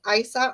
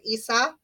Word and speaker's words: Isa: It's a sound of I or E, so you can pronounce it Isa or Isa.